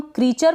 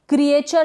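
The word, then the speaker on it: creature: लिए पढ़ने के साथ यह क्रिएचर इसको हम क्रीचर बढ़ेंगे क्रिएचर नहीं पड़ेगी यह जो यह है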